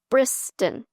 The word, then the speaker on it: Brystan: a word instead so my name is Briston and it's Briston so it has two syllables I work in a